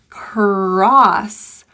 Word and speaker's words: cross: So cross, as opposed to cross. The O here is an ah vowel. Ah. Typically people see an O and they think oh. Cross. But this is ah. When you see this vowel surrounded by other consonants and there's no E at the end, it's typically ah.